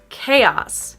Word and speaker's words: chaos: Chaos. Not chaos, but chaos. Chaos. So we actually do say each vowel sound separately in this word, unlike many other English words.